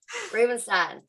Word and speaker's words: Rubinstein: I'm your host, Christy Green Brown, and today we have got Miss Lauri Rubinstein. Did I say it right? Rubinstein. Rubinstein. Yeah, got it.